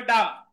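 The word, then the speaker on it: dumb: ববা সাক্ষীর নিচে লেখেন ডাম witness D ইউমবি ইউমবি ইউ এমবি উচ্চারণ হবে ডাম উটনেস ডইটি এনই ডবল এস ডবল আই টি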